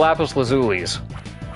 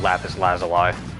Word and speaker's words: lapis lazuli: We're getting an awful lot of lapis lazuli. I remember when I used to pronounce it lapis lazali for like the longest time.